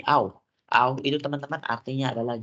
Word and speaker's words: auch: Ini bacanya bukan ouch, tapi auch.